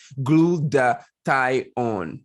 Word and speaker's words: glutathione: something that is called glutathione right it is pronounced glued the tie on this is very important and if you're like